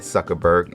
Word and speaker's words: Zuckerberg: outdone Mark Zuckerberg yeah I said Zuckerberg I said it right Mark Zuckerberg and his